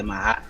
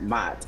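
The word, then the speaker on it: Maat: That's what I know the mahat to be, and that's what they call it, the mahat, not mot.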